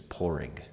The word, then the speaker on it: Padraig: soft the original no Irish name is pouring oh I like but it's spelled Padraig which is why they that